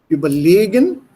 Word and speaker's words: überlegen: Überlegen, when it is not separable, a prefix is not separable, die Betonung liegt auf den zweiten Verb, auf das Kompositum of the Verb am Ende. Überleben, not überleben, sondern überleben. Überlegen, it's on the second one.